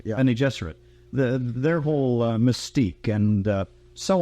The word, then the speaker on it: Bene Gesserit: Bene Gesserit, you pronounce it? Bene Gesserit, yeah. Bene Gesserit.